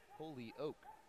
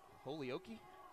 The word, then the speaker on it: Holyoke: It's pronounced Holyoke. Holyoke, Colorado. That's where Cade Killen's from. What did you originally say? I think I said it. Holyoke?